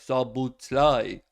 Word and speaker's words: Szoboszlai: And so we had to put it into Google Speech or Google Talk, and it was like Szoboszlai.